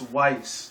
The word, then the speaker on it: Weiss: No, actually, no, it's not Whis. It's Weiss. That's who it is. Okay. Roses, yada, yada, yada. There goes that. There it is, Weiss.